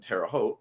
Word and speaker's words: Terre Haute: I need to charge my Fitbit and USB bricks for tomorrow's Munzie event in Terre Haute. Rhymes with vote.